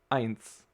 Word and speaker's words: eins: beginning of a word you say eins like i ins and yeah so you